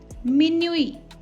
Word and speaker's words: minuit: matin, in the morning, minuit. Here T is silent and the meaning is midnight.